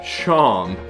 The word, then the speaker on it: Seam: The name's Seam, pronounced Shom.